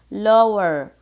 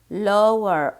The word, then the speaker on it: lower: You see this C is smaller than this, or we can use another word which is lower, lower, O-W, pronounce it as long O.